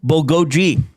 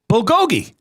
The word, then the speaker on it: bulgogi: Festive cranberry versus Korean bulgogoi. Bulgogi in this month's.